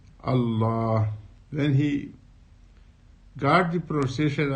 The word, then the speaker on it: Allah: He said that we say Allah, we say God, and Muslims, they call Allah.